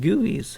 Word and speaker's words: GUI: GUI’s are pronounced gooey, or I guess you can also pronounce them Gee You Eyes, as a lot of people have told me in the comments.